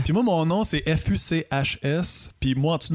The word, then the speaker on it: Fuchs: Mais non, la vraie prononciation, c'est fuchs. OK. Comme la couleur fuchsia. Ah, OK, fuchs. Ouais. OK. C'est écrit pareil comme la couleur fuchsia. Puis vu que c'est allemand, en fait, les Allemands, ils prononcent Fuchs. Puis ça, c'est comme en